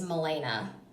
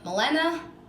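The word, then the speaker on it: Malena: last name is hard my name is milena by the way but it's spelt mal ena and most people are like Melina Melina Melina no none of the above alright so we're going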